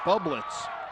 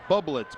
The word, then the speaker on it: Bublitz: Jake Bublitz, B-U Blitz. That's the way you should pronounce it. You should pronounce it B-U Blitz.